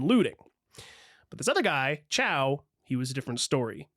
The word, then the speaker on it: Chao: But this other guy, Ciao, he was a different story. And I did look it up. It is just pronounced ciao.